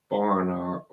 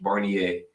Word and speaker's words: Barnier: minister for reference Mike Mel barer Mel Barner oh God I'm butchering his name here hold on let me make sure I'm saying it right Mel Barner barer barnier barnier I'm s I'm sure you know if it's French barnier and uh French politician